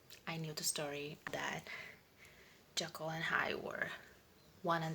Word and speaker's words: Jekyll: Yeah, I had to look it up how to pronounce it. Apparently there's some debate, but I'm just gonna go with what I found, which is Jekyll, I guess.